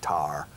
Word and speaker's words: tire: and a few words we pronounce it a strange or a tar for a tire on the car the tar tar okay